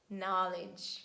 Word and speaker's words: knowledge: this combination rheumatic rhinoplasty letter k is very easy we never pronounce it in the combination k and at the beginning of words and we say knock knee neat night no knowledge knowledge when you know something and i hope that now you've got this knowledge and you won't read k again and letter l and